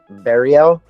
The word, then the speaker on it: Berrio: intro how do you say your last name bario oh wow that's what I said nice but